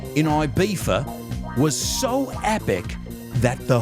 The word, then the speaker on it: Ibiza: Also, his 1987 birthday party in Ibiza, I'm going to pronounce it like a British person, in Ibiza, was so epic that the hotel still celebrates it every year.